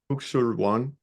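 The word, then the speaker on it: Kuk Sool Won: Kuksul-Wan.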